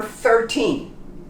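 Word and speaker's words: thirteen: the number 13 13 again the th here in the front 13. you can pronounce 13. it's easier to pronounce 13. if you want to be perfect you have to use your tongue behind your front teeth and then on the top and you say 13.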